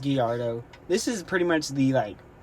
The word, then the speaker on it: Gallardo: I'm pretty sure it's pronounced Gallardo.